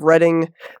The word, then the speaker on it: Reading: I grew up in Reading Pennsylvania already it's uh yeah it's spelled like reading so everyone pronounces it that way but it is Reading